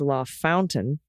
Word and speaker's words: LaFontaine: because Indiana some examples LaFontaine is La Fountain russiaville is russiaville uh